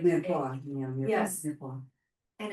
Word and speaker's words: mirepoix: At Trader Joe's, they sell I don't know how to pronounce it, the mirepoix. It's like Mirepoix, yeah.